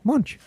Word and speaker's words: Münch: So I asked Emma about am I saying it right? Münch? Yeah, Munch.